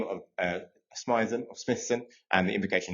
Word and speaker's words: Smythson: Um, and yes, you would pronounce that Smithson.